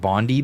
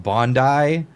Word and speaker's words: Bondi: I was pronouncing it Bondi Beach. I don't know why it's pronounced Bondi. It's just a I at the end, but whatever.